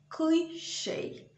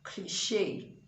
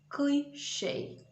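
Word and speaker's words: cliché: do well sorry tomorrow in english that word is cliche so the stress is on the first syllable and not cliche that's okay if it's french but in english it is cliche okay let's move on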